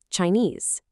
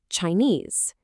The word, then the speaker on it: Chinese: This word has two parts, two syllables, and the stress, the emphasis, is on that second part. Listen closely. Chinese, Chinese.